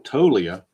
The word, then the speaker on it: Toglia: Next guy on the list, number 4, first baseman, Michael Toglia. The G is a soft G or a silent G, which however you want to refer to it.